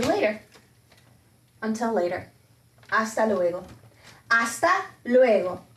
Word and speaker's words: hasta luego: until later hasta luego hasta luego remember the h is silent hasta luego hasta luego nos vemos